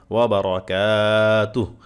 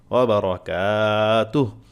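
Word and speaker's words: وبركاته: পড়েন ওয়ারাহ ওয়া রাহমাতুল্লাহি ওয়াবারাকাতুহ এখানে এক আলিফ টান কাফের আলিফ টান আর তুহ এখানে ওয়াকফু যেহেতু থামার জায়গা আছে একটা এখানে ওয়াকফু করবেন হাতে সাকিন হয়ে যাবে ওয়া রাহমাতুল্লাহি এক আলিফ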